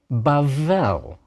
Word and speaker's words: Bavel: A bet with the dagesh is pronounced like our letter B. A bet without a dagesh is pronounced like our letter V. So, Bavel, Babylon. The Tower of Babel in